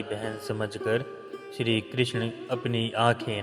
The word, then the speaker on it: कृष्ण: भगवान श्री कृष्ण का नाम कृष्ण है, कृष्णा नाम गलत उच्चारण है।